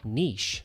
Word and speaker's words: niche: As well, we can click on Niche or Niche, depending on how you pronounce it.